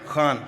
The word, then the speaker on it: Khan: Khan from the Epiglottis.